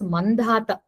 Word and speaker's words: Mandhata: ಸೊ his name becomes Mandhata. Mam plus Dhata, so Mamdhata. It will be pronounced as dot ಮೇಲೆ Mandhata.